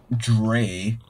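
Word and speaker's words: drei: i do remember this the answer is like dre but it's spelled d-r-e-i instead of d-r-e-y sir start the lesson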